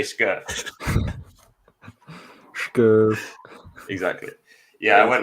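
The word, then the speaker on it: Scherff: Hey, Schnobbly, how do you say Scherf?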